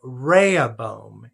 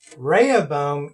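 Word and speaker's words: Rehoboam: King and so he chooses his son called Raya boom and this is the way you spell that and I'm gonna do a little bit of a chart over here so you can see this Raya bum is now the next king reh OB o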